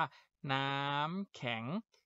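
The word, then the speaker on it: น้ำแข็ง: ขอ งอ นะ ครับ พอ ไส ไม้ ไต่ คู้ ครับ ไป จะ ทำ ให้ เสียง มัน สั้น ลง ไป นะ ครับ ขอ ก็ ไป คู่ แข็ง หน้า ขอ อัง นอ แขน ต่อ เติม แต่ กู จะ เป็น แข็ง ชนะ คำ นี้ อ่าน ว่า น้ำ แข็ง น้ำ แข็ง นะ ครับ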